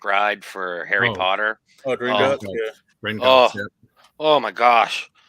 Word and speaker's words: Gringotts: I got on the Grindelwald. Is it Grindelwald's? I can't pronounce it right. I think I'm saying it right. But Grindelwald's bank ride for Harry Potter. Oh, Gringotts, yeah.